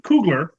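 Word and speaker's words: Coogler: just to give you an example I'm probably mispronouncing koogler the director of its Kugler right I've been director of yeah um you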